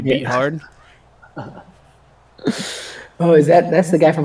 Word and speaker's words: Beathard: who I'm pretty sure his last name is Bethard, but it's spelled Beathard, so that's how I pronounce it, CJ Beathard.